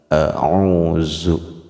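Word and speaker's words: أعوذ: Bunyinya alif itu pasti a, ain pasti bunyinya o, dengan ditambahkan waw sukun berarti o-nya 2 harakat, dan zalnya itu penyebutannya digigit ujung lidahnya sehingga bunyi huruf zal tipis. Kalau tidak digigit khawatir kita kepada huruf zai, zu, harusnya digigit zu. A'udzu, bukan a'udzu.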